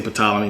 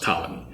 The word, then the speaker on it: Ptolemy: I always say Ptolemy, but it's actually pronounced Ptolemy.